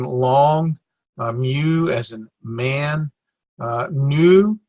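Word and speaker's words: νῦ: Nu, it looks like an V, but that is a nu. It's pronounced like an N, but it looks like a V. So it is a nu, or like a no.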